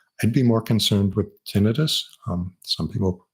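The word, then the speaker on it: tinnitus: be more concerned with tinitus um some people pronounce it ttis but that makes it sound like it's an inflammation of the tin the itis meaning inflammation of it's tenus both are acceptable um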